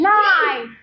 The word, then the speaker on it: knife: K is silent. knee. Knee. Knife.